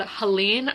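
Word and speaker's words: Helene: no warning whatsoever so it is called Halen I think is how you say it's like h e l e n e sounds French but that is happening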